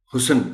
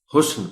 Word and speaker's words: حسن: معدنیات، معدنیات، دنیات، حسن، حسن کہہ جاتے ہیں لوگ جلدی میں، حسن پڑھا جانا چاہیے اس کو۔ امن، یہ لفظ